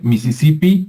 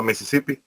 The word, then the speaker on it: Mississippi: se pronuncia ya correctamente en inglés americano es como así como como se escucha en español es lo mismo a Mississippi e Mississippi Pero se escucha hasta